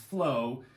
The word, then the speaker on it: FLOA: So FLOA, pronounced flow, stands for fasting like our ancestors.